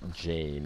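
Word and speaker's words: Jeanne: this week beginning with francis de salz and john de chantal john being jane is the way we pronounce that they were two people who reached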